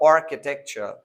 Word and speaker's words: architecture: In these two examples, the CH is pronounced as k or g, chemistry or architecture, right?